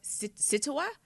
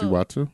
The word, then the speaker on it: Siwatu: I hope I'm saying this right. Situwa? So it's hashtag free, SIWATU. So, Siwatu? Siwatu. Oh, I said Situwa. Sometimes I be putting the accent on the wrong.